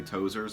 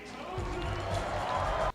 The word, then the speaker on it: Tozier: Some people say Tozer, some people say Tozier, but this is how it's pronounced in the movie, so. Please welcome Richie Tozier!